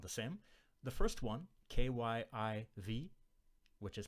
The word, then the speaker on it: Kyiv: The first one, K-Y-I-V, which is pronounced, I think, like Kyiv, that's a transliteration of the Ukrainian name for the capital of the Ukraine.